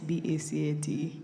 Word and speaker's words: BACAT: How you pronounce B-A-C-A-T?